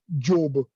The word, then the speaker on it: Diop: The name Sheikh Anta Diop, if you pronounce it in the Gambian Wolof, it becomes Job. But in Senegal Wolof, Diop.